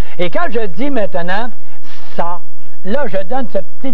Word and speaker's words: ça: Et ça n'arrive, ça veut dire cela. Et on a enlevé et on a mis la cédille pour prononcer ça et non pas qu'à.